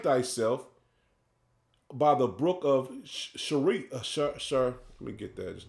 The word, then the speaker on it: Cherith: eastward, and hide thyself by the brook of Sharit. Let me get that just to make sure I pronounce it correctly. Cherith.